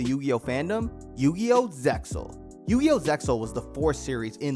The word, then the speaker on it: Zexal: fandom Yu-Gi-Oh Zexal yu-yo Zexal was the fourth Series in the Yu-Gi-Oh franchise the X in the name is silent in Japan it's pronounced Zeal AKA energy we'll get